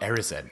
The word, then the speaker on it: Erised: It's Erised. And Harry's super excited. Oh, Erised.